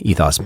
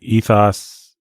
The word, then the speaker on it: ethos: I've always said ethos, but apparently it's ethos.